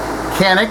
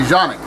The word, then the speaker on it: Canik: The I guess the exact pronunciation of canic uh from Turkey would be jeanic. All right. Having said that, everybody on this side of the pond calls it can.